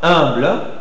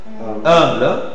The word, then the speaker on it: humble: Il y a une prononciation un peu plus allongée et en position tonique devant n'importe quel concernant. Par exemple, vousz avec moi humble humble ou lunch.